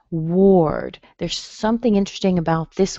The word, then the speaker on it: Ward: Words that have a W-A-R in them don't have an A sound. They actually have more of that O that you see in the second version of Paul.